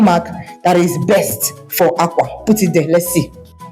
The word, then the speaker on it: àkwá: If I want to say clothes, it's called Àkwá. Àkwá. What is the tone mark that is best for Àkwá?